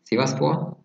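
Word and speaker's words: Sivasspor: son we are there almost so the next pronunciation i want to get to is sivas shiva sport yes what can you tell us about shiva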